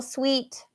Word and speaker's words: suite: So this is sweet, and it sounds exactly the same as sweet, yani manis. So, like, you could get a hotel suite, or you could drink some sweet tea.